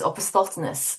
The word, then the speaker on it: opisthotonos: technical term for that stage of tetanus is opisthotonos, I'm glad and you pronounced it.